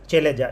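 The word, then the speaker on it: chalaza: Micropylar organised opposite the micropylar, जो ही micropyle का opposite part होगा वो कौन सा होगा, चेलेजा, या केलेजा, चेलेजा कैसे ही बोल दीजिए, कॉमन टर्म में प्रोनाउंसिएशन डिफरेंस है।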